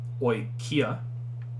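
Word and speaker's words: οἰκία: So that it's not oikia. You would have to, if you wanted to properly pronounce, it's oi ki a, right? You just break that up into kind of like your breaths.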